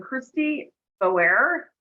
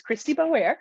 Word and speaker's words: Christy Boer: You did pronounce that right. It's Christy Boer, she, her.